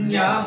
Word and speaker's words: 분량: 불량이 아니라 그렇죠, 분량. 분량. 아 오케이 오케이 오케이. 발음 제대로 해야지.